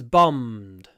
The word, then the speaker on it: bombed: So when we pronounce bombed, again we have a long m before a little d at the end. Bombed. Bombed. The d is actually a little bit like a Russian t.